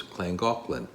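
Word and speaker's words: Llangollen: gaan and back now clang gaan is spelled a little different than it sounds because it's in Wales and from what we've been told the LL sounds like CL in Welch so it's clang aan now I'll not bore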